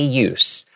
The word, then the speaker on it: use: word Daily And daily use And because use Is being used as a noun As a noun here And not a verb We're pronouncing it with the S sound Use Okay But if